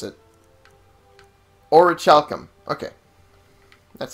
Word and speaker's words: orichalcum: No, you don't have it, but so I know how to pronounce it. Orichalcum.